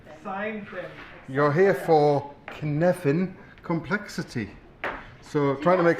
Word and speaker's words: Cynefin: It's pronounced like Kevin, with a N. So it's Cynefin.